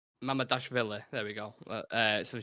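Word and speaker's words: Mamardashvili: Mamadashvili. Mamadashvili.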